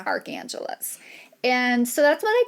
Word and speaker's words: Archangeles: the name I chose cuz it sounds like Los Angeles it's the city of Archangels it's Arch Angeles and so that's what